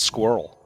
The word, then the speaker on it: squirrel: fun of me for how Americans pronounce squirrel squirrel's one syllable squirrel because it's a it's a squirrel squirrel I think I say it with two squirrel well then you're not saying it the American way it's a squirrel I